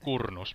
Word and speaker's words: Kurnus: I pronounce it Kurnus, but Kurnus is a fine too.